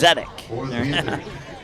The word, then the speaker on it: Zedek: According to my pronunciations, it's Zedek.